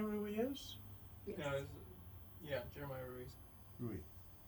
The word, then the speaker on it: Ruiz: Ruiz. Is that how you pronounce it, Ruiz? It's Ruiz, yes. Okay, good.